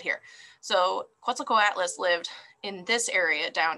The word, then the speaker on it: Quetzalcoatlus: same area right well how did the quetzilco atlas get its name so it's pronounced quetzalcoatlus and their name comes